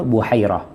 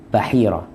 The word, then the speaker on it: Buhairah: Jadi pendeta ini disebut Buhairah atau Bahirah. Yang masyhur Buhairah. Sebagian menyebutnya Bahirah.